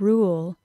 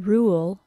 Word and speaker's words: rule: as a long u the vowel sound in the word rule is the oo sound ooh rule compare the vowel sound in rule to the vowel sound